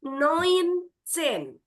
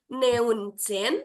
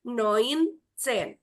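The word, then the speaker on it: neunzehn: Nah, 19 ini EU dalam bahasa Jerman dibacanya jadi oi. Jadi bukan neun, tapi noin chen ya. Silakan ucap ulang. Noin chin R. Ya, jadi ini dibacanya ee sekali lagi bukan neun chen tapi noin chin ya.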